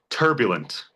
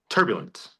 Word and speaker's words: turbulent: Where's the stressor in the word turbulent? The first half. First, the first syllable. Tur. Turbulent. If I were to say turbulent, you'd be like, "That's weird." Or on the last syllable, turbulent, be like, "That's also weird." Turbulent, it's on the first syllable.